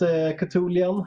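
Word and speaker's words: Chthonian: I think it's pronounced Cthulhian Nightmare.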